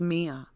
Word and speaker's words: Miya: this is where mia have i been saying maya i believe it's pronounced mia so mia is 19